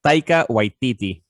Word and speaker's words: Taika Waititi: It's Taika Waititi.